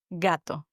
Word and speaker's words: gato: word cat in Spanish means gato. Gato. Here, the G is always pronounced like a hard G, like the word, for example, go in English.